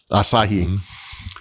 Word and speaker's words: Asahi: The Asahi Linux like the beer, actually.